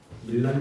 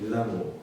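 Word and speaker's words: Milano: 의사를 알고 있는 313년에 밀란 칙령이라고 밀란이란 발음은 영어식 발음이고요 원래 그 본토 발음은 밀라노 그래서 밀라노 칙령 밀라노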